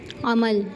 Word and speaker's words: عمل: تو پہلا لفظ ہے عمل۔ آپ دیکھ سکتے ہیں عمل میں عین اور میم دونوں حرف مفتوح ہیں۔ مفتوح یعنی کہ دونوں پر زبر لگا ہوا ہے۔ عین زبر، میم لام زبر مل، عمل۔ اب جو تلفظ عمل